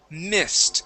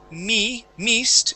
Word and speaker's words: missed: First up, we have missed. Instead of meest, it is missed.